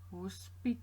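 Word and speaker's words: hospitaal: in Afrikaans its hospital who spit oh just a longer a sound at the back at the end and other than that we spell it exactly the same slight difference in pronunciation Hospital hospital hospital who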